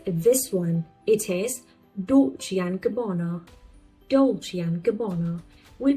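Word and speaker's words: Dolce & Gabbana: It is doli and gabana. Dolian gabono. We pronounce it like not and but like alphabet n.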